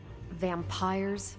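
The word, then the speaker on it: vampyres: Vampires with a Y? Pronounced exactly the same as vampires.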